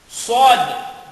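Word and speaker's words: ص: Sod. Sod. Ang sod is parang ang sumisipon.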